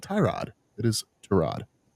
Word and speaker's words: Tyrod: It's not Tyrod. He was like, "Hey, um, you know, Trod is such a good dude." And everybody was like, "Trod." He was like, "Yeah, it's actually pronounced Trod and he just lets people say it however